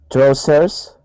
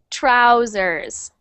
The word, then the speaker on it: trousers: um next one uh trowers trousers trousers trousers trousers good and it's kind of like a zed sound so instead of trousers it's trousers trousers trousers good trousers trousers